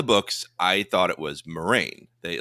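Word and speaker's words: Moiraine: pronouncing it okay yeah so I just noticed that this season everyone's calling her Moraine like very straight forward without the eye and I'm like I wonder if they had a discussion they were like we're confusing everyone with the eye let's just drop it let's just go Marine it's easier to say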